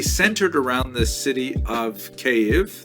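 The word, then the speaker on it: Kyiv: around the city of cave that's the Ukrainian pronunciation by the way that's favored today because of course Ukrainian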